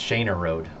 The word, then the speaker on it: Shaner Road: It's Shaner Road. This is that one that looks like Shoner or whatever it said.